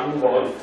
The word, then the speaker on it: Nuvoli: Faccio questo riferimento anche al mio cognome perché io sono, vabbè, le mie origini sono sarde, non si dice Nuvoli ma Nuvoli.